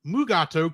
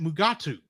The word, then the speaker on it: Mugato: So they changed it to Mugato because he could say that. But unfortunately, I think Kirk and Scotty, the other 2 people who actually had to say the word Mugato on screen, kept pronouncing it Mugatu.